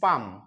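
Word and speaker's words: palm: দাঁড়িয়েছিল আপন উপরে হিজ পাম পি এল এম পালাম না উচ্চারণ হবে পাম এল এর উচ্চারণ উজ্জ্ব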